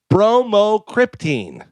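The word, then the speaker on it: bromocriptine: It is really spelled like it sounds.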